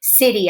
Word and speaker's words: city: For instance, I noticed that you put the word city under the hard C sound, but it's a soft C sound.